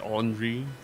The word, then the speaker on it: Henri: We just call him Henry, but he pronounces it Henri.